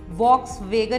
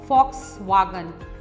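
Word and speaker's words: Volkswagen: वॉक्सवैगन नहीं होता, फॉक्सवैगन। फ विद एफ, लिखने में W आता है, V आता है, सुनने में V आता है, बट हम उसको बोलते हैं फॉक्सवैगन।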